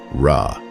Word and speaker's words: Ra: The first sign is a sun disk, pronounced Ra.